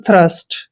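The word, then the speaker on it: thirst: आर एस टी दोस्तों टी के बाद एच आया है इसलिए हमने टी का उच्चारण थ करना है इसको पढ़े हम थ्रस्ट क्या पढ़ते हैं थ्रस्ट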